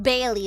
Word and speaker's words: Bailey: Well, it's actually pronounced Bailey, but I just call him Belly because it's a lot more easier.